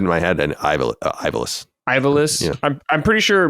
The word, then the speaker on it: Ivalice: Ivalice?